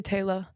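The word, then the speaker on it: Taylah: Yeah, you Because- guys all say Taylor. Yeah, T-A. Y-L-A-H. Yeah. That's how it would be in the States if you saw it written.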